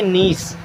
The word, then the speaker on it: niece: देखिएगा NIECE, इसे पढ़ेंगे नीस, क्या पढ़ेंगे, नीस।